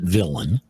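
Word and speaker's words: villein: to look up is a term villain we pronounce it villain that's the English pronunciation don't forget it was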